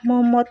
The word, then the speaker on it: মুহাম্মদ: এখানে মুহাম্মদ উচ্চারণটি কিন্তু মোহাম্মদ হবে না, মুহাম্মদ।